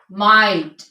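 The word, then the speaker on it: might: common use में है के एच से पहले और आई के बाद जो अक्षर जी होता है वो साइलेंट होता है लाइट माइट साइट राइट इन सब में जी साइलेंट है ठीक है इसके बाद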